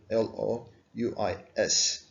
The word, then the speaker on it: Louis: allen parlancy think it l-o-u-i-s s is silent fit in the for